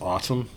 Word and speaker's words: ATUM: opera, 33 songs, and it's spelled ATUM. I believe it's autumn.